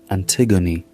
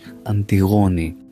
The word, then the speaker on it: Antigone: Antigone, you say in English. Antigone in Greek.